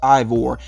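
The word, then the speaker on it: Eivor: main character i think that name is pronounced ivor and um yeah i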